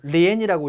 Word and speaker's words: 连: 자, 이 단어는 리엔이라고 읽고 여기에 뭐가 오고 요 뒤에 예 또는 또우가 옵니다.